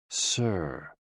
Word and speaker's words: si: associated with the heart s i pronounced like Sir with a slow exhale which is associated with